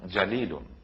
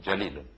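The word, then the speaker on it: جليل: কোরআন তেলাওয়াতের এটা একটা প্রাথমিক দায়িত্ব আমাদের, যে কোরআনকে সহিশুদ্ধভাবে আমরা তেলাওয়াত করতে শিখব, এর উচ্চারণকে আমরা সঠিক করব। যেমন ধরুন জালিলুন, জিম জবর জা, লাম ইয়াজিল্লি, লাম দুই পেশলুন, জালিলুন।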